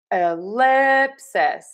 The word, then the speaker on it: ellipsis: So I think that's why most people probably say that short I because then we have the I in lip and the I in cis.